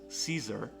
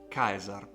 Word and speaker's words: Caesar: english we pronounce as caesar in latin is pronounced kaiser d is the same